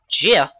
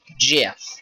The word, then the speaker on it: GIF: Until recently, when the creator of the GIF said it's pronounced Jif, like the peanut butter, which kind of disappoints me because I always said GIF.